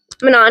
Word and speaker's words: Manon: I know who Dorian's going to end up with, because if he doesn't end up with Manon is the correct pronunciation, by the way, I found that out.